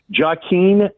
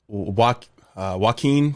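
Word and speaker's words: Joaquin: Jaen Phoenix. Uh Waen Phoenix.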